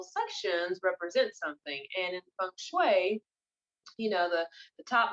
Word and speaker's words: feng shui: feng shui um it's you say feng shui but it's not spelled like that it's f e and G second word s-h-u-i um so it looks like feng shui but it's feng shui um but what I